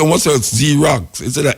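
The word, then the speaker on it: Xerox: Them say what's Z-Rocks instead of X-Rocks. You know, it's confusing. You see an X, you don't pronounce it X, you pronounce it Z.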